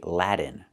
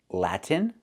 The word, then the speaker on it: Latin: We cannot pronounce the word like this. We cannot say Latin. The word is pronounced Latin with a clear t where you release the t Latin America. Or you can do something else. You can do a stop tongue up in a T position and then go directly to the N like this. Lat Latin. So pronunciation Latin America or Latin America. But do not say Latin America.